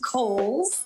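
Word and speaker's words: Cowles: much it is pronounced Kohl's uh George Cole was a an early land owner developer out in the East County area so holes Mountain like the department store and backed by popular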